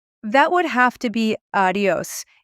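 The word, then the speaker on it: adiós: That would have to be adios. A D I O S with the accent on the O.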